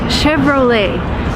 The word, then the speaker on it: Chevrolet: is a car code Chevrolet and surprisingly it's an American company but it uses a French name and sometimes Americans just